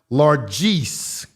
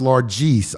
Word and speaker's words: largesse: And I did pronounce largesse incorrectly. It's pronounced, I think I said largesse. It's pronounced largesse. I know how to pronounce it. So don't become a user pronounce largesse incorrectly. Generous, giving, gift, or bounty.